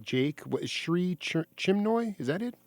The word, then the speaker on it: Chinmoy: What is Sri Chinmoy? Is that it? Chinmoy, yeah, like Chin with a moy at the end.